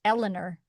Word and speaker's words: Eleanor: I have to give it the Eleanor, not Eleanor. Eleanor. We can't say it that way.